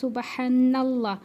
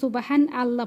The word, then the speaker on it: সুবহানাল্লাহ: এরপর আপনারা জিকির করবেন হচ্ছে সুবহানাল্লাহ। অনেকে কিন্তু এটা সুবহান আল্লাহ পড়েন, সুবহান আল্লাহ এরকম পড়েন, তো এটা কিন্তু উচ্চারণ ভুল হয়। এখানে কিন্তু উচ্চারণ করতে হবে সুবহানাল্লাহ, নাল্লাহ, এটা কিন্তু সঠিক করবেন, ঠিক আছে।